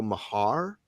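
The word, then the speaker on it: Maher: Dad always pronounced it Joe Mahar. It looks like it's spelled Mayer or yeah.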